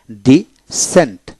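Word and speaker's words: descent: টিয়ার সেপটার তারপর আসেন ডি সেন্ট ডি এস ই এনটি ডি সেন্ট সির উচ্চারণ হলো না এভাবে আপনি প্রতিটা শব্দকে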